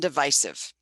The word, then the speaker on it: divisive: This word has 2 acceptable pronunciations, divisive and divisive.